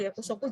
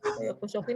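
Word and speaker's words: 役職: Yakushoku ini adalah jabatan ya, jangan salah bacanya. Yakushoku ya, bukan yakusoku. Kalau yakusoku janji biasanya, tapi kalau yakushoku itu jabatan ya.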